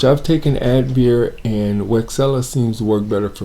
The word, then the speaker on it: Wixela: out of habit i don't know it's actually pronounced rexella as you see i'm on their website and